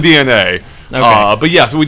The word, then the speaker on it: DeNA: games and not uh DNA, which I realized that now I mispronounced before. Yeah, I guess I have been too. It looked like Dena to me. Yeah, that's what it looked to me. Yeah. Yeah. But yeah, apparently DNA.